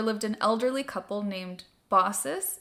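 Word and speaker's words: Baucis: Asia Minor there lived an elderly couple named bosses it's spelled b a u c i s like bakus but apparently the pronunciation is bosses and filon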